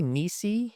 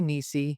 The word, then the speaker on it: Nisi: It I say ni. You could say in so I say ni technically I think it's nice cuz it the term is in nai. Um but ni nai ni I picked